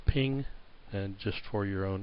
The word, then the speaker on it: PNG: those areas all right PNG like I say pronounce ping and just for your